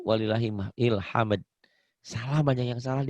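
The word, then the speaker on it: ولله الحمد: Kadang-kadang yang lucu, bukan walillahil hamd, walillah ilham. Ilham gak ada artinya. Padahal walillah dan untuk Allah hamdu segala puji. Walillahil hamd. Gitu harusnya ya.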